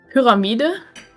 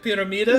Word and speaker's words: Pyramide: Pyramide?